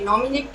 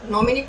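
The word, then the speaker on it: mnemonic: नॉमिनिक किसे कहा जाता है? नॉमिनिक की जो इंग्लिश स्पेलिंग होती है उसमें एन साइलेंट रहता है। नॉमिनिक यहाँ से एन से नहीं, एम से स्टार्ट होता है।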